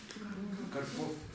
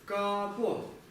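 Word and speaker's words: དཀར་པོ: Смотрите, вот это ра иногда бывают диалекты, где она не читается. Она превращается в а и читается капо. Что это за диалект? Это алхазский диалект, то есть центральный тибетский, они иногда вот так вот произносятся, то есть получается очень странно. Должно читаться карпо, ну или хотя бы карпо как-то так.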